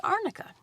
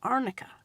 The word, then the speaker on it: arnica: What you can use is arnica. Arnica is spelled A-R-N as in Nancy, I-C-A.